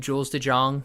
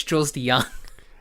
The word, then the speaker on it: Jules de Jonge: interviewed they're gonna interviewed jules de Jonge mm-hmm no that's not the way you say her name it's chose the young a nice it's just a young I just got that